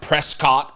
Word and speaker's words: Prescott: Prescott, Arizona looks like Prescott, Arizona.